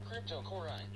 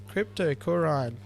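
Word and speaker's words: Cryptocoryne: Cryptocorine. Oh. Cryptocorine.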